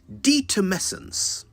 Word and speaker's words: detumescence: Detumescence. Detumescence. I'll spell it. D-E-T-U-M-E-S-C-E-N-C-E.